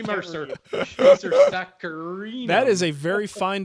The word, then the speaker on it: saccharinum: Silver maple is Acer saccharinum. There's an extra syllable in there.